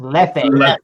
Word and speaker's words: Leffe: I think is it leaf or left? It's Leffe. I think it's left. Like Leffe. Left or Leffe.